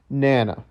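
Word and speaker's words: Nanna: I researched it a couple of times, and I believe it is pronounced Nana.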